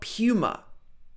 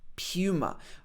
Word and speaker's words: Puma: Then we got Puma. Puma. Okay, this is probably not the pronunciation in the original language, but in the UK we would normally say Puma, not Puma, but Puma. P-U, Puma.